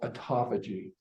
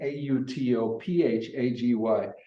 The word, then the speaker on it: autophagy: A lot of people would like to pronounce it Autophagy. autophagy, because that's what it looks like. Exactly, autophagy. Well, if you're in England, that's the way they say it.